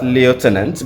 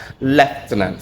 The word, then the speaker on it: lieutenant: So yes I often encourage my students pronounce as left tenant. That is how the British pronunciation for the word goes.